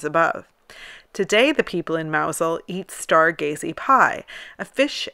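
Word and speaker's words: Mousehole: 23rd of December in mousel a beautiful fishing Village it's also spelled mous hole but it's never pronounced that way the festival honors a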